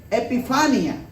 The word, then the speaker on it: epifanía: ok son palabras griegas epifanía así se pronuncia epifanía un término compuesto efe